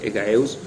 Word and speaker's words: Egaeus: antigua por ejemplo egaeus Que si bien yo lo pronuncié como con j porque así me me lo imprimió mi cerebro y ya está mal dicho no hay una J hay una hay una G egeus es como el padre